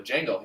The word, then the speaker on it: Django: I go, "Django." He goes, "Django? I think I've seen it." I go, "Okay." He's like, "Let me Google the poster." He put Jango. And I was like, the D is silent.